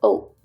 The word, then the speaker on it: aux: It becomes O. A-U-X, O-U-X. So the X is silent, it's still pronounced O.